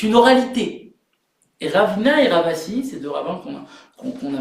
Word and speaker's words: Rava: J'ai dit Rabba, mais il y a aussi Rava. Et ça s'écrit exactement de la même manière. C'est juste qu'il y a une intonation différente et il faut pas les confondre.